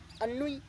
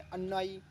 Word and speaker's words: ennui: अन्नुई, ANNUI। इसको कोई लोग बोलते हैं, कुछ लोग बोलते हैं उन्हें अन्नाई, अन्नोई, ये उच्चारण करते हैं, लेकिन इसका सही उच्चारण है अन्नोई, ENNUI।